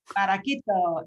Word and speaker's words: Barraquito: Tell us also a little bit about Barraquito, if I've pronounced that correctly. Barraquito, yeah.